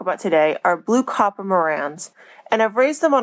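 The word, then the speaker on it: Marans: Now, I've heard the name pronounced both Moran and Moran. I tend to go back and forth between them. The French town itself is actually pronounced Moran, but in America, we tend to Americanize words a little bit.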